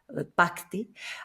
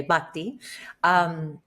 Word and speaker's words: Bhakti: And Bhakti, which is spelled Bhakti, Bhakti. When you say Bhakti, it's like Bhakti. But when we anglicize it, we tend to say Bhakti.